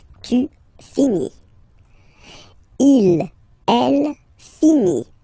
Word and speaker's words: finit: Il, elle finit. So it, final T not pronounced. Il, elle finit. So, je finis, tu finis, il finit.